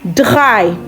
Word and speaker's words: drei: 3 in German is drei. Drei. D-R-A-I. Drei. Now, another thing is, German R is pronounced differently from the English R.